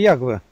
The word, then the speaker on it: Яхве: не отрицает и Феофан Затворник, только говорит, надо правильно говорить Яхве, Ягве.